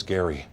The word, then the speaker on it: Gerry: It's actually supposed to be pronounced gerrymandering with a hard G sound. My real name is Gary.